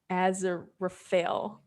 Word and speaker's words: Aziraphale: Aziraphale.